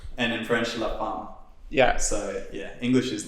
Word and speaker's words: La Femme: on gareth's shirt yeah it's like it's it's pronounced and in french la farmer yeah so yeah english is the fame maybe